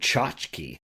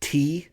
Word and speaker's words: tchotchke: And then I might challenge you to spell it. The word tchotchke.